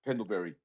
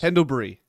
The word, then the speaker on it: Pendlebury: you still pronounce you pronounce him like a like a a form of a berry. Pendleberry. Pendleberry. His name is Pendlebury. Pendlebury. Yeah, Pendleberry. It's It's not Pendleberry. That's Pendlebury there.